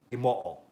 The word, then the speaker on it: Imo: But my last name is indeed Japanese. So it is indeed Imo, and that's how you say it.